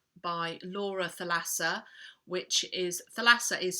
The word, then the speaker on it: Thalassa: a strange him by Laura Thalassa which is Thalassa is spelt th al a ESS a if in